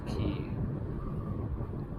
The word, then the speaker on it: Quay: just like the purpose to see way it's key like non-english speakers Who who how would you pronounce q a y right that's Quake now